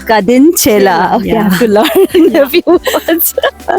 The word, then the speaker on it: Kadinchela: Kadin Chela. Kadin Chela.